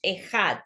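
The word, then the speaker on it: אחד: Cuando nosotros pronunciamos Ejad, ¿qué es lo que nos dicen los sabios? Que tenemos que alargar la Dalet mientras nosotros meditamos que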